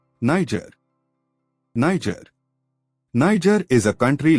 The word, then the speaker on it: Niger: Pronounced as Niger. Niger. The first syllable is pronounced as Ni, rhyming with my. And the second syllable is pronounced as Jur, rhyming with her. Niger.